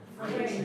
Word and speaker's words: freight: Freight. Yeah, it's a weird spelling, but it's a long A sound. Just freight.